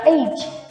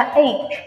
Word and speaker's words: ache: phải nhớ giúp cô cái âm ache ở cuối cùng nó kết thúc bằng âm k. Chứ các bạn đừng đọc là age, age, nghe ghê lắm nha. Nó phải là ache, âm k.